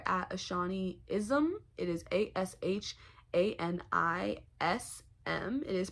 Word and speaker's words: Ashanism: me on Twitter at Ashani ISM it is a-s-h-a-n-i-s-m it is pronounced ashanism I know people will look at it and